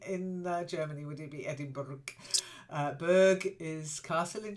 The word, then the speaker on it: Edinburgh: so everybody listen carefully Edinburgh Edinburgh that's it Edinburgh there's no G it's Edinburgh okay um because it's not yeah no only in Germany would you be Edinburgh uh Berg is Castle